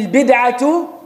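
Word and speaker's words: البدعة: The second misconception is the statement of Umar radiallahu anhu, ni'mati al-bid'atu hadihi. Ni'ma ends with the sukoon, man'an liltiqa' al-sakinayn, it becomes a kasra. Bid'ah has a dhamma at the end, because some people may think I'm saying it wrong.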